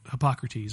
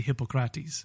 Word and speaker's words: Hippocrates: the Greeks don't pronounce it the way we typically have. We would say Hippocrates, but they say Hippocrates.